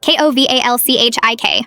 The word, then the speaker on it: Kowalczyk: "It's Kowalczyk," she shouted, slamming her hand on the desk. Kowalchik. How hard is that?